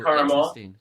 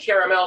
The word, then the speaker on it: caramel: say it differently yeah yeah i've always said caramel um i thought that caramel was more of like an out here i